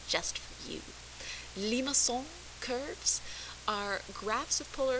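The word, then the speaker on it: limaçon: shapes lima song curves i practice my french pronunciation just for you limasson curves are graphs of polar equations of the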